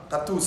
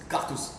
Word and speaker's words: Gattouz: Gatouze en arabe, mais puisque les étrangers ne peuvent pas prononcer le ka, dire Gatouze. Cartouze. Ouais, tu dis ka.